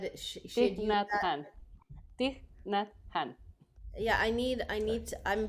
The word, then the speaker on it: Thich Nhat Hanh: I cannot pronounce his name. Tich Khan? Yes. Yeah. She had Thich used Nhat that. Hanh. Thich Nhat Hanh.